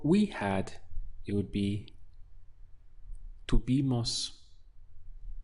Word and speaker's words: tuvimos: For we had, it would be tuvimos. We have 3 syllables.